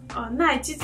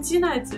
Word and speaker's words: 奈玑子: 接上这个奈基子啊，它名字好难念啊，奈基子，对，总想念成基奈子，有没有？